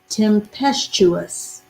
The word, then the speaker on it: tempestuous: a pest and then the letter u you and us o u s temp tim pest chu us tempestuous t-e-m-p-e-s-t-u-o-u-s tempestuous there you go